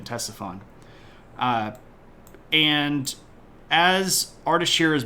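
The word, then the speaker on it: Ctesiphon: there a place called Tesson and it's spelled with a c at the beginning so it's ctes i p h o n Tesson uh and as artier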